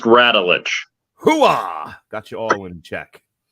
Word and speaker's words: Radulich: mortified Mr pronounced ratelich got you all in